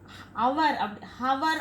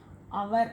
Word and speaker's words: hour: ஹவர் அப்படின்னு நம்ம use pronounce பண்ணக்கூடாது, அவர் அப்படின்னு sound, so யூ புட் ஆன்.